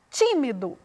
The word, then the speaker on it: tímido: Veja só, tímido. A sílaba pronunciada com mais ênfase foi o ti.